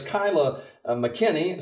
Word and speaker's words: Kyla McKinney: Kyla and I were just discussing how you pronounce her name it's Kyla mckenny student uh eighth grade student at Nichols Lawson